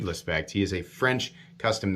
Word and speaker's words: Lespect: You can check him out on Instagram, David Lespect, or I keep saying David Lespect, but it's David Lespect.